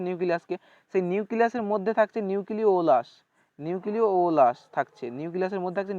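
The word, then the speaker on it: nucleolus: তো ফ্রেন্ডস এই যে উচ্চারণ দুটো একটু মনে রাখবে, এটাকে বলা হয় নিউক্লিওলাস, নিউক্লিওলাস, এটা হবে ওলাস, নিউক্লিওলাস, এটা উচ্চারণ হবে এরকম। আর একটা হবে নিউক্লিয়াস, নিউক্লিয়াস অন্তস্থ একার দন্তস্ব, আর এটা হবে ও ল একা অন্তস্থ দন্তস্ব, সরি।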